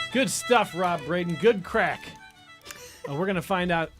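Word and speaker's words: craic: Timothy says it is pronounced crack.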